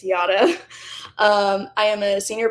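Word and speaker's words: Jara: my name is y it is spelled j a r a but it's pronounced yada like yada yada yada I know it's confusing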